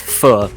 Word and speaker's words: pho: It's actually pronounced pho.